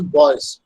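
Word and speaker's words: buoys: what is called boys this is pronounced as boys b-u-o-y-s boys are nothing but the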